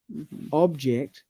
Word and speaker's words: object: But now you know when the stress is on the first syllable, that's a noun. And when you stress the second syllable, that's a verb.